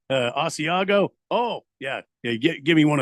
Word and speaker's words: Asiago: I said it wrong. And the lady corrected me at the counter. Like, oh, you mean Asiago?